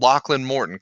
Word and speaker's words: Lachlan Morton: you a couple of tough questions about it's pronounced Lachlan Morton, correct?